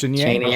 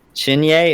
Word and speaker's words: Cheney: Cheney or guy Oh Kyle Cheney a shinny a is how you pronounce it yep Kyle shinu yeah oh that gives this